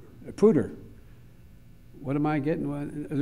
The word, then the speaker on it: Poudre: And as for the third winner, it's pronounced Poudre, right? Poudre.